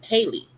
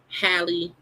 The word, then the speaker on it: Halle: But I when I see her name, I just see Haley and sometime I say wrong and I feel bad. But her name is pronounced Hi Bailey just like Halle B.